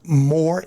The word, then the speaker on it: Moor: A, Moor, MOOR, no E.